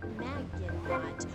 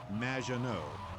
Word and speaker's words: Maginot: Maginot, welcome to the show. Thanks, Amy. However, you have mispronounced my name. It's Madge, which rhymes with badge, as in duh, and no as in more than you. Maginot.